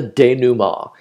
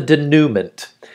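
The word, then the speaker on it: dénouement: the strange one it's called the day Numa and I wrote it in here pronounced Daniel ah it's French it is not the denouement and this occurs after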